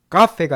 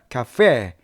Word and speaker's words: cafe: 자, 이 발음 잘 하셔야 됩니다. 카페가 아니라 카페. 이 페 강세가 들어가요.